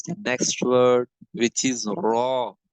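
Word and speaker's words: ر: This volume will has to strike here, and raw will has to be announced, will has to be pronounced from here.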